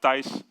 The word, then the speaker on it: Thijs: I think the most persons outside of the Netherlands that see my name think like how it is pronounced. Yeah, it's like Thijs.